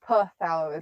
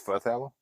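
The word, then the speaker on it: phthalo: P is silent on. It's not pthalo. It's fthallo.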